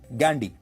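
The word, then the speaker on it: Ghandy: अंग्रेजी में वह गांधी नहीं गैंडी लिखते थे जिसकी स्पेलिंग है जी एच ए एन डी वाई गैंडी।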